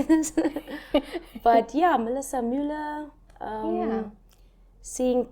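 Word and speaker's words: Müller: Because Muller. the umlaut on the U. Yeah. So I'm also trying to, how does a person say this? But yeah, Melissa Muller.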